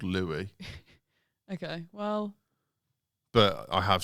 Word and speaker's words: Louis: Well, they all need to know that they're called Louie.